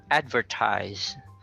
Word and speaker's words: advertise: Okay, so first we have advertise. So the stressed syllable is the highest syllable. It's the highest tune or pitch within the word.